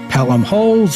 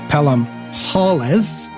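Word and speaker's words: Pelham-Holles: about Thomas pelum holes whether it's pelum holes or pelum holles as we've seen other smart people say it both ways so maybe we'll figure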